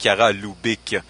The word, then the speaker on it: Chiara Lubich: Les Focolari, en fait, c'est comme il l'a dit, alors je précise, hein, c'est Chiara Lubich, la prononciation exacte, sinon ça fait un lapsus tout à fait absurde.